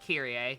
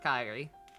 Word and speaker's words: Kyrie: her name is spelled that way and it's pronounced kirier not kyrie to pronounce it kyrie i've always seen it